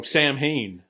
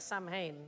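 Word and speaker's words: Samhain: which is Halloween oh Sam Heen we celebrate our dead how do you say because it looks like Sam Haines yeah salmon just haven't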